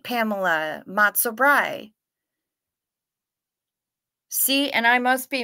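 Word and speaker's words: brei: Bry is pronounced like fry. Okay, good. So I did it right, Pamela. Matzo Bry.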